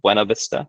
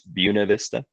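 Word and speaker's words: Buena Vista: It's mispronounced. It's not Buenov Vista, it's Buuna Vista.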